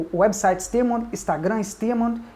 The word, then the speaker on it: Steamond: Stearmond. Stearmond, é como se escreve.